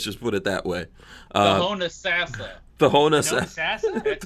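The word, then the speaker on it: Homosassa: Honasassa. The Honasassa? That's how it's pronounced.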